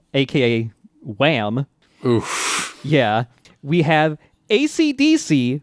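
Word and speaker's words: Esidisi: wham yeah we have acdc who is just pronounced ac dc they just spell it differently they spell it phonetically so good yeah yeah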